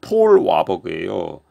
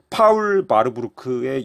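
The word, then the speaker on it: Paul Warburg: 그리고 이 바르부르크 가문 출신으로 유명한 사람 중 하나가 미국의 연준, 패드를 설립하는 데 큰 역할을 한 폴 와버그예요. 이 폴 와버그는 파울 바르부르크의 영어식 발음이죠. 파울 바르부르크.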